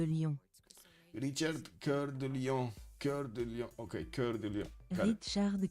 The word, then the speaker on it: Cœur de Lion: Cœur de Lion. Okay, Cœur de Lion. Richard Cœur de Lion. Richard. I'm not gonna pronounce the over there.